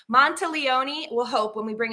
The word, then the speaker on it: Monteleone: Did I pronounce it right? Perfect. Monteleone, just like Monteleone.